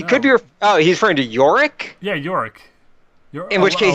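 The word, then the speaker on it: Yorik: So, I guess this is supposed to be pronounced Yorick.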